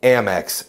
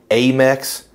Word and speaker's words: Amex: want you to say MX out loud along with me MX see it's short for American Express am I the only one that cringes a little inside when I hear folks pronouncing it ax like a a American